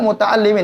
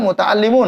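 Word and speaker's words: متعلمون: Nahnu muta'allimin. Seharusnya nahnu muta'allimun, Anda tahu. Namun mereka mengatakan nahnu muta'allimin. Ah, ini adalah kesalahan dalam pengucapan kalimat bahasa Arab.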